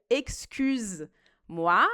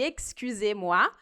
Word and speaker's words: excusez-moi: Porque se a gente não pronuncia excusez, se a gente pronuncia excuse, que é o que parece mais com o inglês, né? Excuse me. Então, se a gente pronuncia excuse-moi, ao invés de excusez-moi, o que parece ser educado, na verdade, é um insulto.